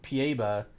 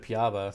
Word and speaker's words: piaba: beta too so yeah I say project pa ba instead of piaba so everyone gets annoyed